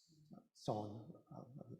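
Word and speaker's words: Seon: Chinese pronounce it chana, and the Koreans follow that pronunciation with chan, son, back into Japan for a moment. But chan becomes son. And it's usually transliterated S-O-E-N, or is it S-E-O-N?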